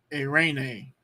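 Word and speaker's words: εἰρήνη: you look at it that there is a diphthong at the beginning Epsilon iota you see that your mind goes that's one sound a eight a rainy a rainy peace a rainy peace all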